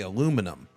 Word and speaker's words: aluminum: I say aluminum. It's spelled differently. And therefore that's why it's pronounced aluminum just because you all add an extra letter in there.